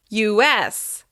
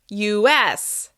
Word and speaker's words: US: Similarly, when we talk about the US, we stress the letter S. US, US, US.